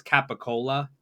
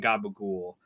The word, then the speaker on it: capicola: Guido pronunciation of, like, I think it's capicola. Is like how it's written. It's not written gabagool, but the way that Italians in America kind of pronounce things, they pronounce it with like a G sound.